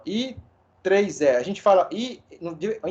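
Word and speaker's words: IEEE: que que significa esse i3e quem pode me dizer Alguém sabe me dizer o que significa i e e e a pronúncia correta é i3e E aí que que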